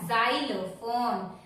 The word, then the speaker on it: xylophone: It starts with X but we pronounce as xylophone.